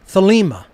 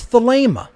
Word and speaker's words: Thelema: alpha gamma alpha pi eta how do you pronounce agape you don't say agape you wouldn't say thalima it's the lemur the ada is a long